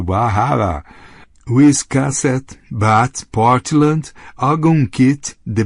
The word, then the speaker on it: Bar Harbor: Camden, Rockland, Bar Harbor, pronunciado Bar Harbor, Wiscasset, Bath, Portland, Algonquin, The Berwick's.